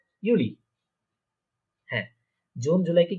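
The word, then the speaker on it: Juli: তারপরে দেখেন June জুলাই, এই দুইটা উচ্চারণ হবে ইউনি ইউলি। ইউনি ইউলি।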